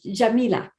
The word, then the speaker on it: Yamile: And what about you, Shamila? I'm saying your name wrong. I know I am. Jamila. Shamile. Oh, I am saying it okay then.